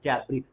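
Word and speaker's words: debris: जबी क्या बोलते हैं जबी S become silent S silent रहेगा लिखने में एस आएगा बट बोलने में डेब नहीं होता दैट इज डबरी मलवा मतलब समझते हैं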